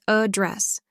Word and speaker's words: address: we address this issue it's always address with second syllable stress address address Bass with